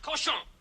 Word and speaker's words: cochon: The word is pronounced cochon.